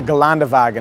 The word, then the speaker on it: Geländewagen: On the other end of the spectrum is the $219,000 Mercedes-Benz G65, or the Geländewagen, if you want to say it like the proper Germans.